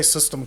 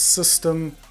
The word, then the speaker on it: Systeme: Anyway, so this is where Systeme comes in. It's pronounced system, yep, just system.